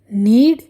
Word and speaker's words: knead: KNEAD नीड, इसका मतलब आटा गूंथना, और इसमें के साइलेंट है।